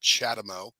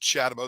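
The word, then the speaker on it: CHAdeMO: acronym uh but it sounds like I just pronounced it chadamo uh this is not shadowmo this is j1772 this is the plug I've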